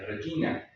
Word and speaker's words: regina: Regina es, no es regina, es regina.